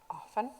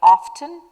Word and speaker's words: often: Often. some people are pronouncing it like often and some like often. And I heard both of them as correct.